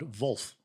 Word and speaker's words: Wolf: And then we've got Vulf, which I think is the correct correct pronunciation for a German brand. Vulf, how's it spelled?